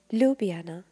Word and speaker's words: Ljubljana: මේ විදිහට spell කරාට අපි මේක pronounce කරන්නේ Ljubljana යනුවෙන්. එවැගේම අංක 59.